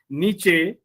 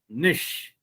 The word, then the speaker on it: niche: it is mature then it is not niche it is nish i have also given